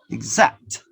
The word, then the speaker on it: exact: percent to be exact exact remember this x is pronounced with that sound exact exact exactly don't forget about it so we have the